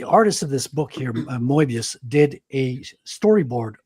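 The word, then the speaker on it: Moebius: You're saying you're saying it wrong. It's Mobius. Moius. Mobius. Moius. Say say Mo and then say mobius. He's French.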